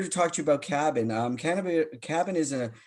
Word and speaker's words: KABN: have David lucat he is the CEO of cabin I'm assuming that's how you pronounce it it is K a BN that